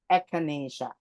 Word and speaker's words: echinacea: This is pronounced as echinacea.